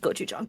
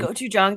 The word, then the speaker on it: gochujang: gochujang to my tofu, and I'm dying. Gochujang. Fun fact for the audience. Gochujang rhymes with "go you dong."